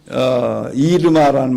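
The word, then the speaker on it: Irma: 여기는 한국은 어마라고 그랬죠. 원래 어마라는 말은 발음이 잘못된 거고, 그 어떤 사람이 어마어마한 게 어마가 왔다고 막 한국 사람들이 그렇게 비아냥거렸는데, 이르마라는 말이 원래 맞는 말이고요.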